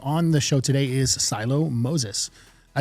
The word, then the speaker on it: Siloh Moses: Um, on the show today is Silo Moses. I said that right. Absolutely. Because I've gotten your name wrong a couple of times.